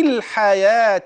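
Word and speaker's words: الحياة: احسنت بينهم معيشتهم في الحياه الدنيا هكذا في الحياه الدنيا من الفاء الى اللام حذف المد الاصلي وصلا فانتبه الحياه كلمه كتبت في كتاب الله معرفه بالشرط تكتب بالواو في الحياه وتنطق الواو الف في الحياه الدنيا هكذا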